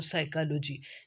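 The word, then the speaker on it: psychology: की प pen pencil लेकिन पी जो है वो जब किसी भी कंसोनेंट में से पहले आए तो फिर इसकी साउंड आमतौर पर तब्दील हो जाती जैसे ये कंसोनेंट एच से पहले आया तो साइकोलॉजी तो एस से पहले आया पी की आवाज साइलेंट हो गई इसके बाद एन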